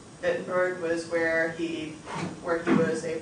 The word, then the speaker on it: Wittenberg: Wittenberg and Worms are the two cities you need to know. Remember, they're both with W's. It's just because they're German, you pronounce it as a V. Wittenberg was where he was